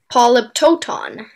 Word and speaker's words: polyptoton: correctly as far as i can hear yes polyptoton can i have all the information please polyptotan it's the only pronunciation is a noun that comes from late